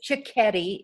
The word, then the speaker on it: Cicchetti: her last year it's chicketti it's um italian and it's pronounced like chicken and spaghetti teddy okay that's good